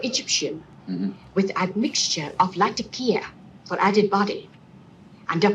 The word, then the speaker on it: Latakia: Clearly, the gold standard for how to pronounce Latakia is the lady running the tea shop in the Basil Rathbone Sherlock Holmes film, Dressed to Kill. She says Latakia.